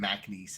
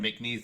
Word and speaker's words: McNeese: produce it MacNeese, and I was like, don't. I'm not doing that. It's spelled McNeese. There's no A.